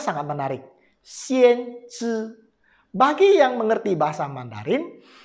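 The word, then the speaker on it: 先知: Bacanya sangat menarik. Xian Zhi Bagi yang mengerti bahasa Mandarin, kata Xian Zhi ini sangat menarik.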